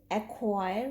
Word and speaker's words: acquire: This E is not a vowel here, it's just the magic E or the silent finally. So the word is acquire with two syllables and two vowels, A and I.